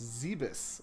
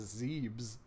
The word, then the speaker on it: Zebes: and then yeah the the planet in the first one in Super Metroid is pronounced zaebis isn't it because I always read that as Zebes though I will say in that case I think zaebis sounds cooler and scarier so I'm good